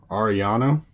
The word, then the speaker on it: Ariano: Ariano is how I'm being told to pronounce Steve's name.